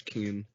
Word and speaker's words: Keane: I'm and yeah my last name is Keane that's how you pronounce it I want to get